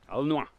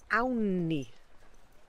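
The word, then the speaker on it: awn ni: How do you say let's go in Welsh? Alnwa. No. Anni. Awni. Awni. Awni.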